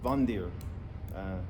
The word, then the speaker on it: Wander: it is pronounced correctly the w is pronounced as a v so vondir but with a rolling of the r so uh bunder i'm still not pronouncing